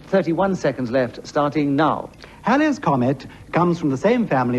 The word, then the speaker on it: Halley's Comet: to reappear in 1986, the correct pronunciation is Halley's Comet and not Halley's Comet, but that is the subject on the card, so I'm afraid I have to mispronounce the word, and I do apologize to the audience. I happen to be a member of the Halley's Comet Society, and therefore I'm